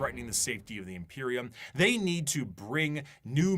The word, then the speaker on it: Imperium: Imperium.